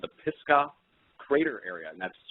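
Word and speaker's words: Pisgah: and I found out it was called the pisca crater area and that's spelled p i s g a Ag and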